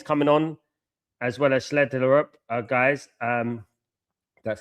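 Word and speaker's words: Schjelderup: Like, just because you get it wrong, Bob is coming on, as well as Schlederup, guys. That's how you pronounce his name.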